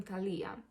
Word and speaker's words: Talija: Talija, sa akcentom Talija.